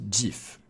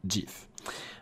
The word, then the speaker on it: GIF: repris, le GIF animé, ça se prononce GIF, D-J-I-F, voilà.